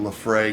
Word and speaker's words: Laphroaig: suggest a nice Lagavulin or Laphroaig liffe ray depending on which American English you're using to pronounce that how much you've had